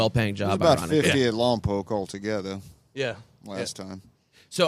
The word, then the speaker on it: Lompoc: Pronounce it correctly for me. Lompoc. Lompoc.